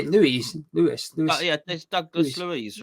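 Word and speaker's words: Luiz: injured Louise oh how do you say Louise Lewis Douglas Louise right Louise and then Sarah you've got all those players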